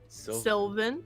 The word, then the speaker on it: Sylvane: miss if Lanier's name I don't think you're saying it right what was it again Sylvane Sylvane yes name or